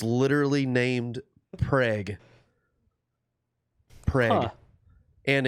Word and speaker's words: Prague: small town in oklahoma and it's literally named preg and it's it's spelled just like prague but it's actually i was gonna say are you pronouncing that it's actually you know pronounced preg but it is spelled as if it's prague